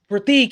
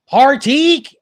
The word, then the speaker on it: Prateek: So Jandis from off stage goes, Prateek, and he goes, okay, it's Prateek. And she's like, no, it's Prateek. And he's like, Prateek, all right, just get up here.